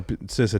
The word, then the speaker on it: CISA: No, CISA tells me it's CISA.